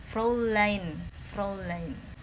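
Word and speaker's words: Fräulein: Ini ada AU, dibacanya O. Fraulein. EI jadi AI. Fraulein.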